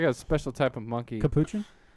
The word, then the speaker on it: Capuchin: special type of monkey Capuchin is that how you say it yes yeah kuchin kuskin it's